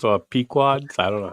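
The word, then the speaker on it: Pequod's: How would you How would you Is it Podes or Pquads? I don't know how you would pronounce that. Pquads. Pquads. Pquads. He said pequads.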